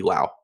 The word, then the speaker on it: Lowe: the minors with Nate Lowe he told lo that by the time he got to the majors the popular pronunciation of their last name would be Lao that's funny yeah that's